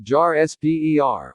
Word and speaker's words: Jasper: group as Tiffany will call them Jasper pronounced Jar SPER also posh and Anne